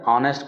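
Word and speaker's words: honest: तो ही इज एन, क्योंकि यहाँ वोवेल साउंड है, एच साइलेंट है, ऑनेस्ट पढ़ेंगे, ऑनेस्ट, नेस्ट, ऑनेस्ट। आ रहा है हमारा, एच साइलेंट है, एच की प्रोनाउंस नहीं किया जाएगा यहाँ पर।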